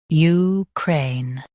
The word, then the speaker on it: Ukraine: Crane, Ukraine. Stress cray and end with a clear N. Crane, Ukraine.